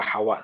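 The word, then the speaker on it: حواء: Yang Adamu wa Hawa tadi. Hawa. Bacanya Hawa ya, wawunya tasdid ya. Oh, tasdid. Ini banyak di kita kan Siti Hawa, dia Siti Hawa. Sebenarnya pakai tasdid.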